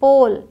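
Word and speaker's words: pole: हैं ओ पे अब यहां पे भी ई साइलेंट रहेगा और अब लॉन्ग ओ होगा अभी वहां ओ था यहां ओ होगा पी ओ एल ई पोल एम ओ एल ई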